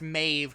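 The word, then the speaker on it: Medb: think it's amazing yeah it's Maeve because it's Gaelic it's weird it's like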